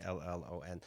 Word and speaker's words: Brillon: Gina, you can follow online, Twitter and Instagram at G Brillon, Brillon, of Very course, nicely pronounced. Brillon.